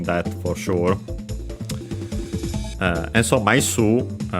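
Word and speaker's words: 枚数: And so Maisu, by the way, accent on the su, so be careful, it's an exception because technically it's a Chinese compound, is literally the number of flat things.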